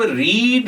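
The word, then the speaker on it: read: Second form होती है वो भी रीड है। और थर्ड फॉर्म होती है वो भी हमारे पास रीड ही है। तो हमारे पास जो वर्ब की फॉर्म बन जानी है वो जब सेकंड वर्ब की फॉर्म बनती है तो उसको हम प्रोनाउंस कैसे करते हैं? रेड।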